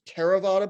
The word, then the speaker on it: Theravada: There's Theravada Buddhism, spelled with a, I'm down here, if you see my cursor, it's spelled with a TH, but it's just pronounced as a T.